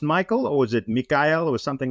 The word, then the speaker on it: Mikael: it the okay in in my native Swedish it's uh the emphasis is on the e sound so Mikhail okay okay very cool